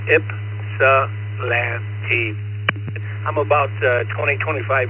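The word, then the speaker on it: Ypsilanti: Correct me if I'm wrong, but it's pronounced Salante Michigan. Please come out. Well, good evening everybody. This is WB8F and I am in a little town pronounced Ipsalante. The Y is silent. Ipsalanti.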